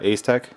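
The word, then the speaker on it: Asetek: I think the H50 is made by Ace Tech. That's how you pronounce it, and this one's made by Coolit.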